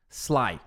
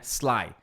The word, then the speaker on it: sly: Então, por exemplo, essa palavra aqui, ó, sly, né? Sly. É s. Só que o brasileiro vai tender a falar, vai tender, vai tender a falar sly com s assim e com esse i no começo.